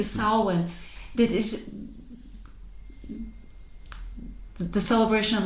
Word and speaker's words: Samhain: earlier about, and it's, what is it? Samhain. Samhain. I never get that right. Because it's spelled Samhain. It is. Yeah. Thank you, Samhain.